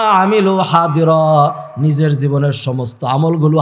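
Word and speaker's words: حاضرًا: রেখেছে ওয়াজাদু মা আমিলু হাদিরা নিজের জীবনের সমস্ত আমলগুলো হাজির পাবে ওয়াজাদু মা আমিলু হা দিরা আরবিতে দতের উচ্চারণ করে দত করে আর আমরা বাংলা উর্দুতে বলি জাদের মতো করে হাজিরা হাজির পাবেন ও ভাই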